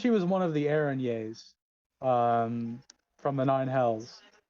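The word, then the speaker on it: Erinyes: word she said she was one of the ereniers um from the nine hells which is the actual pronunciation i did look it up oh god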